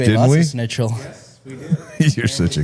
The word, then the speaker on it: Schnitzel: of schnitzel. we do. You're such a You cunt. love Snitchel, bro. I like how you mispronounce it too. It's really good. Schnitzel. Snitchel.